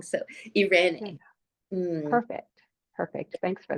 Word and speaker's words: Irene: Irene. Mm, Perfect. Perfect. Thanks for that. I could always add the little accent to help, but Irene, yeah. it's spelled like that in either language And of what cultural background, origin.